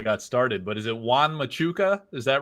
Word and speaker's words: Juan Machuca: name before we got started, but is it Juan Machuka? Is that right? Yeah, it's pretty much the name. Juan Machuka.